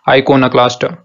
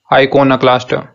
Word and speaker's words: iconoclast: तो जो सही तरीका इस वर्ड को प्रोनाउंस करने का वो है आइकोनोक्लास्ट, आइकोनोक्लास्ट, आइकोनोनी, आइकोनोक्लास्ट, और आइकोनोक्लास्ट नाउन है।